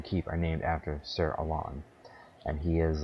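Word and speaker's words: Alonne: boss anyway is Sir Alon I think that's how you pronounce it a-l-o-n-n-e Alon um you might name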